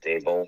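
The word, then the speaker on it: Daboll: How do you pronounce it? Dable, right? Yeah.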